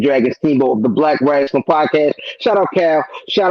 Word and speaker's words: Rasslin: It is Rasslin as in R-A-S-S-L-I-N.